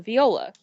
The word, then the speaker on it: viola: Okay, so the American English pronunciation is viola. UK variation is viola.